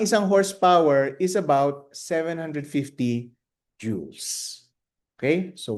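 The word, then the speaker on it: joules: Ang tamang pronunciation ay jees. O parang parang alahas ' ba? Jeweles. O ganon. So, okay. Ang isang horsepower is about 750 joues.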